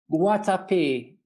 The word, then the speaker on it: Guatapé: How do you pronounce it? Guatapé, Guatapé.